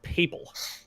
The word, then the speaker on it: papal: The word's pronounced papal. It's been long enough. I can take it no longer. I'm gonna keep calling it how I've been calling it, just to Babble.